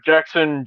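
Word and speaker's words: Jaxon: Like Jackson Jaguars, like the football team kind of thing. No. Like, Jackson, like, Jax from Mortal Kombat, JAX, and then on. Oh, But it's pronounced like regular old Jackson.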